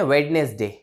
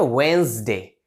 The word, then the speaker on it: Wednesday: इसको कैसे बोलते हैं? वेडनेसडे। वेडनेसडे गलत गाइस, इसकी जो करेक्ट प्रोनाउंसिएशन होगी वो होती है वेंसडे। वेंसडे, ये वेडनेसडे ऐसे नहीं, वेंसडे, वेंसडे, वेंसडे, like that, ठीक है।